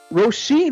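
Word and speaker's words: Róisín: 3 artists: Armin van Buuren, who's a DJ, Roisin Murphy, who I just found out that's how you pronounce her name, and finally David Guetta.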